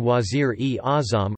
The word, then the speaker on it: Wazīr-ē-Āzam: Wazir-e-Azma Pakistan Wazir-e-Azam, Urdu pronunciation, Z-R-E, Zim, lit.